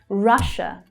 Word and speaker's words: Russia: Russia. Russia. The stress is on the first syllable there, and it is a short vowel sound. Ah. The vowel sound as in up. Ra, Russia.